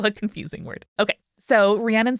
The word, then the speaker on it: Rhiannon: Rhiannon is who is writing in today, she, her, with who said for her name, Rhiannon, like the Fleetwood Mac song.